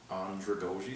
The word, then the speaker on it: andragogy: a definition of anja goji which is actually pronounced andragogy sounds like a french word but it actually